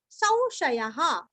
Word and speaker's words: संशयः: और संशयः, स के ऊपर अनुस्वार का उच्चारण औ के जैसे।